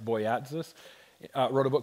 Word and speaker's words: Boyatzis: Richard, I think his last name is pronounced Boyatzis, wrote a book called